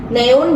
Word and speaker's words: neun: ah Noin no Heeh EU dalam bahasa Jerman dibacanya oi nah neun jadi bacanya Noin kemudian